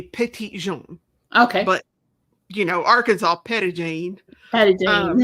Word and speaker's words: Petit Jean: It should actually, if you want to pronounce it correctly, it would be Petit Jean.